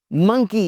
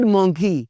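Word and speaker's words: monkey: मंकी, इट्स नॉट मोंकी, इट्स नॉट मोंकी, इट्स मंकी, मंकी।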